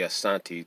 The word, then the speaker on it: asante: keep going um asante you have to say it slowly i'm told if you say asante too fast then it means that you're not sincere so you can't say